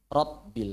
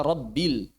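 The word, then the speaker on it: رب: Kalau tasdid alhamdulillahiabbil rabbil sering sekali rabil mestinya rabbil.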